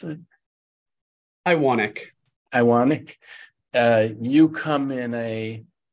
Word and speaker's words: Iwanek: Iwanek, how do I pronounce it? Iwanek.